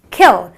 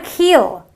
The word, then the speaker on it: kill: It is kill. It's not a keel, okay? So it is a short, brief sound.